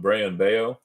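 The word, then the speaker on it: Brayan Bello: And I think I mispronounced his name early on when I did these breaks. But Brayan Bayo, I think, is how you say his name, his last name, right, for the Red Sox.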